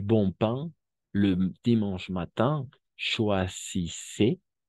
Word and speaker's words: choisissez: Si vous voulez acheter du bon pain le dimanche matin, choisissez, la Z no se pronuncia, choisissez une boulangerie où beaucoup de gens attendent hasta la D, porque ENT es mudo como aquí mange igual, ¿no?